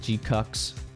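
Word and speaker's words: GQuuuuuuX: Okay, let me send you the G-Cucks. That's what apparently that's the official pronunciation. G Cucks.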